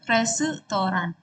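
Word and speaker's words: レストラン: Tapi kita ee nyebutnya itu resutoran. Resutoran karena di bahasa Jepang itu enggak ada s langsung gitu ya. Jadi harus pakai su gitu.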